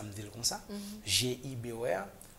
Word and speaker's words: Gibor: OK, vous prononcez le Gibor. Mm-hmm. Là, il y a un autre bagaille. Là, vous fait appel à une autre entité. Parce que ce n'est pas comme ça le prononcer. C'est Gibor.